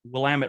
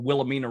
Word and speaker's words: Willamette: someone that's come here and called the willow willamette river something weird you know they call i have a friend called it the willamena river so i will look at places and i'll pronounce things in a weird way and that